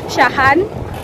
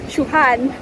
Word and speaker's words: Shahan: I'm going to put it here, but it's pronounced Shuhan. So anytime I'm asking where is Shahan Hotel, they're like, I don't know, until I met someone who's like, it's Shuhan, not Shahan.